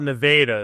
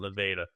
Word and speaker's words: Nevada: They call it Nevada. It's spelled Nevada, but they call it Nevada.